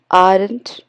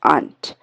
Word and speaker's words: aren't: Indian एक्सेंट is concerned लेकिन अगर हम ब्रिटिश एक्सेंट या अमेरिकन एक्सेंट की बात करें तो वी आरंट इट्स not correct it इज वी आंट okay आर थोड़ा सा साइलेंट रहता है तो वी आंट okay so this way